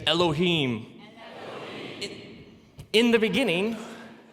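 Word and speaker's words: אֱלֹהִים: it would look something like this and it's pronounced Elohim let me hear you say Elohim eloh in the beginning Elohim created the heavens and the earth now the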